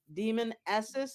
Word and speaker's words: Demonis: my name is demonis I always tell people think demon essis and you're never gonna say it wrong um I'm a Bay